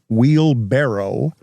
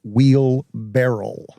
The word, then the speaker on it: wheelbarrow: since he learned that the word wheel barrow is not wheel barrel it is not wheel